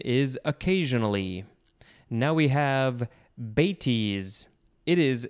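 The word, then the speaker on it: bêtise: at times synonym is occasionally now we have batis it is spelled b-e-t-i-s-e and there is a little uh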